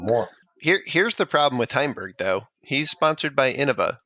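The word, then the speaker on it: Heimburg: I want to say Hamburg. How do you say his name again? Heimberg.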